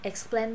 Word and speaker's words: explain: Chữ explain này hay ho lắm nè. Không có plain plain bình thường đâu mà là X nè. Xong rồi plain nè. Explain.